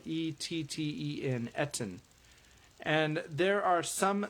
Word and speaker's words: etten: It's spelled E-T-T-E-N, etten.